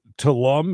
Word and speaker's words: Tulum: This thing does say that Tulum, is that how you say it? Tulum.